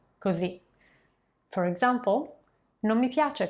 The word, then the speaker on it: così: So like this or like that will be così, così, with a final accent on the letter I, così.